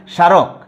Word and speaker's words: স্মারক: তো প্রিয় শিক্ষার্থী, তোমরা দেখো যে প্রথমে শব্দের শুরুতে যদি ম ফলা যুক্ত থাকে তাহলে ময়ের উচ্চারণ হয় না, ক্লিয়ার।